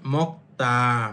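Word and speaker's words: 먹다: যেমন মক্তা। মক্তা অর্থ খাওয়া। এইযে গিউকের পরে যদি দিক থাকে তখন সেটা উচ্চারণ করবেন ত এর মত।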